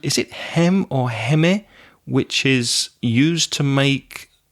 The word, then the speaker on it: heme: But I think it's pronounced heme. Heme? I think so. And you know the word hemoglobin? Yes. It's the heme from hemoglobin.